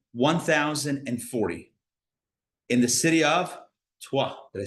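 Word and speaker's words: Troyes: in the city of tuah did I say that right did I really get that right yeah city of twah okay in English it's spelled Troys but it's TW t r o y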